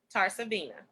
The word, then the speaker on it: TarsaVena: Spell it for us. which is. TarsaVena, TarsaVena. You can find me on all social media with that name, either one of them. Okay. TarsaVena.